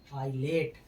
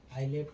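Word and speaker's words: islet: जब किसी वर्ड में आई और एल के बीच में एस आए तब एस का उच्चारण नहीं होता है। जैसे आइलैंड इसको आइलैंड। आइलैंड माने क्या होता है? दीप। आइलेट।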